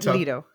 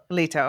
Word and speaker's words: Leto: So, Duke Leto, how do you pronounce that one? Leto. What? Leto.